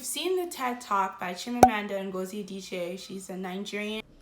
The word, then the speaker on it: Chimamanda: a nigerian hi y'all i really messed up on jim amanda's name and i can't in good conscience let that happen especially as a nigerian so i'm going to pronounce her name again her name is chim amanda ngozi writer who identified you